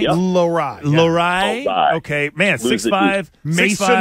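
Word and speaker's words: Lohrei: Lowride.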